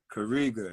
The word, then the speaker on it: Kariga: first name is kariga k-a-rigo that's how you spell it right kariga yeah it means uh Rebel and uh it's